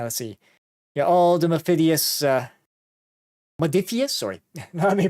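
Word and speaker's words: Modiphius: Yeah, all the Modifius, sorry, let me pronounce that correctly. Modifius miniature games.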